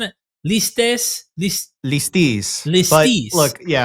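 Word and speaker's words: ληστής: Listis. But look, if scholars would say lestes or lestes, I say listis because it's listis in modern Greek.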